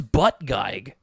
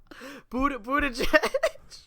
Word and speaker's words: Buttigieg: I thought it was Butt Geig. I've been wondering how to say his last name forever, and it just looks like Butt Geig to me. How do you say it? Buttigieg.